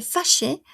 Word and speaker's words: fâchée: Fâché, fâché, fâché, fâché. Pero misma pronunciación. ¿Por qué? Porque esta no tiene tilde.